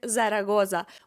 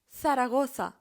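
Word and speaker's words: Zaragoza: ні в якому разі не буде вимовлятися як зарагоза ми скажемо Сарагоса Сарагоса це слово не вимовлятиметься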